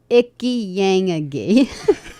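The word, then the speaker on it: Ichiyanagi: It's spelled ICH Icky. ick. Ick. ICHI Icky. Icky. Or Yeah. itchy. Itchy. YAN. So yang. I have an itchy yang. That's bad. And then That's AGI medication. Aggie. AGI.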